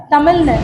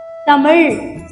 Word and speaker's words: தமிழ்: நாக்கு நேரா உங்க அன்னத்தை தொடணும். சரியா நேரா இருக்கணும். இந்த 3 எழுத்தும் சண்டை போட்டுக்குதுன்னு சொன்னேன்ல, இனிமே சண்டையே கிடையாது. நுனி ல, மடக்கு ல, சிறப்பு ழ. இப்படி உச்சரிச்சு பாருங்க, சரியா இருக்கும். இப்போ உங்க எல்லாருக்கும் ஒரு பயிற்சி வைக்கலாமா? தமிழ் அப்படின்னு சொல்லிட்டு 1 நிமிஷம் எடுத்துங்க. தமிழ். எத்தனை பேருக்கு தமிழ் அப்படின்னு சொல்லும் பொழுது நாக்கோட நுனி உங்க அன்னத்தை, மேல் அன்னத்தை டச் ஆகுதா இல்லையா?